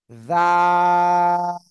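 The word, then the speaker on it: ذال: জিহ্বার আগা, এই উপরের, সামনের উপরের দুই দাঁতের আগায় লাগাবো। লাগিয়ে নরম করে তিন আলিফ টানিয়ে উচ্চারণ করব। এই যে জাল, এই যে জাল, জাল।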